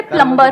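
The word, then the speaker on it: plumber: सर जैसे प्लम्बर, करते हैं।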